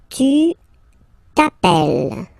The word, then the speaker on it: t'appelles: Second form, tu t'appelles, okay? Remember, final S not pronounced, tu t'appelle, okay?